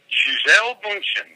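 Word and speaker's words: Gisele Bündchen: Gisele Bundchen, that's how you pronounce it.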